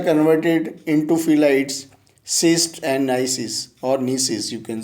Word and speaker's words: gneisses: temperature, slates are converted into phyllites, schist and gneisses, or gneisses, you can say in general pronunciation.